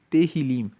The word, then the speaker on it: Tehillim: Vamos lembrar que o livro de Salmos, no original, no hebraico, se chama Tehillim. Se escreve T-E-H-I-L-I-M e Tehillim quer dizer louvores.